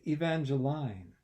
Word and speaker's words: Evangeline: me the girl said but it's Evangeline the last syllable rhymes with fine not with mean Evangelina yes of course